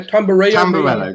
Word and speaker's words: Tamburello: It was actually Tamburello? Is that how you pronounce it, Sulz? I think it's something. Tamburello. Yeah, Tamburello.